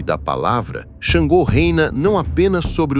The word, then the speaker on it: Xangô: Na antiga terra de Oió, entre colinas avermelhadas e ventos de savana, nasceu Xangô, pronunciado Xangô, filho de Oranhã, fundador do Império, e neto de Oduduá, o ancestral primordial dos Yorubás.